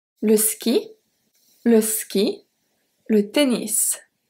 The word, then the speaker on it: tennis: Le ski, le ski, le tennis, tennis, be careful that here we do pronounce the S at the end. Le tennis, le vélo, and le volleyball, le volleyball.